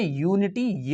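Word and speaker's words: unity: a house यूनिटी यूनिटी इसमें देखिए English vowels में यू आ रहा है लेकिन यहां पर यू में यूनिटी य से निकलता है फर्स्ट साउंड ऑफ प्रोनाउंस एशन प्रथम उच्चारण किसका आ रहा है य का आ रहा है तो यहां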